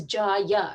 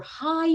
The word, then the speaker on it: Jai: So sometimes I get a call from the doctor's office that says, so my son's name in Hindi is Jaya, right? Ja, Ya, J. But in English, we spell it Jai.